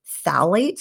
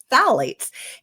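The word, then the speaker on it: phthalates: Another important hormone disruptor in plastics is called phalates, which is spelled with a silent P, so don't ask me to spell it right now, but phalates.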